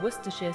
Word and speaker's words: Worcestershire: more so there you have it wer is pronounced W now you can confidently order your Worcester sheare Source without hesitation thanks for watching and don't